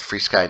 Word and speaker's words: FrSky: is Steve I'm with free Sky North America yeah yes it is pronounced free sky and we are going